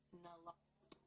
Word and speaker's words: naloxone: Naloxone reverses an opioid overdose, even if you mispronounce it. For the record, it's naloxone.